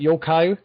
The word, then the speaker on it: Yokai: So Yokai Watch, is that how you pronounce it, Yokai?